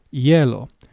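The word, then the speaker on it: hielo: for ice which is yellow. For the most part, the H is silent, meaning you will not it will not be pronounced.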